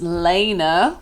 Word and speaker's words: Lana: My name is pronounced Lana, which I know is very misleading for my Instagram and TikTok handle, which is a play off Lana Del Rey, obviously.